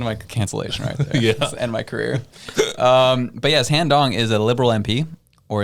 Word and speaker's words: Han Dong: I think it's pronounced Han Dong, though. That's why. I thought you said Hong Dong.